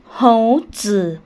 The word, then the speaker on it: 猴子: 2 ขีด ที่ 3 คำ นี้ อ่าน ออก เสียง ว่า โห เจอ โห เธอ แปล ว่า ลิง ค่ะ ค่ะ เป็น ยัง